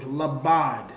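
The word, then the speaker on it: לבד: So it's labad. That's the new word, labad. That's how you pronounce it.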